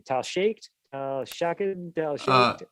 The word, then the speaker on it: Shaked: Tal Shaked, Shaked, Tal Shaked. Right, Tal Shaked, I think. I remember Shaked is how you pronounce it, but I remember when